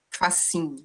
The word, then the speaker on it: Fassin: Fassin, ele é francês, se escreve Fassin, Fassin, né, se fala Fassin, e ele justamente, inclusive